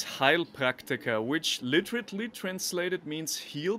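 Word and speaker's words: Heilpraktiker: try to pronounce it haley proctor well no it's actually it's heil practica which literally translated means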